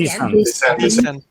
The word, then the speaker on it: descend: Descend. There they are. Descend and descend. Descent. Yeah. So they are yeah. The stress is on the second syllable everywhere.